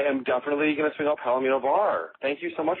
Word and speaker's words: Palomino: Palomino, like the horse.